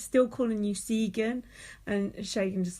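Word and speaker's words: Segan: s e g a n but but it's pronounced shagan and everyone calls him Sean and he doesn't correct them and U Mia and Susan like oh obviously call him shagan because that's his name and she Susan's the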